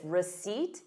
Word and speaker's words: receipt: So notice receipt. You have the word seat in it.